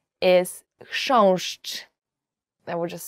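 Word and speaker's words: chrząszcz: will ever learn in Polish, as for the pronunciation, is książcz.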